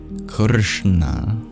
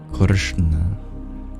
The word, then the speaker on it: Krishna: place of articulation we curl our tongue back kishna kishna kishna would be the most correct pronunciation it's a retroflex or retroflex n and